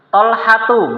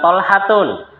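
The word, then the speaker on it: طلحة: Maka bacanya Hamzatu bukan Hamzatun. Tolhatu bukan tolhatun.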